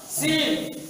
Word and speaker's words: س: عين، اسم هذا الحرف سين، اسمه يقول سين، لكن كيف ينطق؟ س. وكيف ينطق؟ بحسب إذا انتقلنا إلى الشكل، س وسي وسو، لكن نبدأ س، وهذا ح.